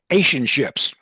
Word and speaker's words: Realationships: In 2002, Ron F in 2002, Ron founded Realationships. Ron founded real. It's like relationships, but real is the first syllable.